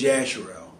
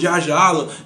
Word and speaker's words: Yasharel: And the Hebrew pronunciation for the word Israel is Yasharel. Like, how you had Jasher? It was Yasher. Rel, L, E-L. Now something like, no, it's Yasharala. The E-L is L, is in the false God.